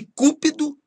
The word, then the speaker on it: cúpido: Cupido é o deus do amor e cúpido é ávido ou ambicioso.